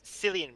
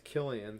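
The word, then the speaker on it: Cillian: I always pronounce it as Silian Murphy. I think he said it himself in interviews. It's Killian.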